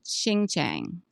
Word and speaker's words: Xinjiang: So Shein and Temu, they both use clothing that is manufactured in a part of China called Xinjiang.